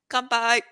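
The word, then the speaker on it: 乾杯: Kanpai.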